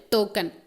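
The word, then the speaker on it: toucan: tau can token okay the pronunciation token token okay t-o-u-c-a-n-token which poses a long large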